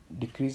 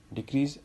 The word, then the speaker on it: decrease: In case of verb, the second syllable is stressed. For example, decrease as a Noun. Decrease. Decrease as a verb.